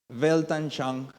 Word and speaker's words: Weltanschauung: Weltanschauung se pronuncia.